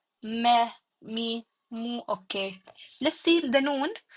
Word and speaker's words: noon: Let's see the noon. You pronounce the noon by using the tip of your tongue. The tip of your tongue. Make this actually touch the roof of your mouth.